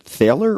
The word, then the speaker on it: Thaler: Richard Thaler, or is it Taylor? Yeah, Thaler. Thaler yeah.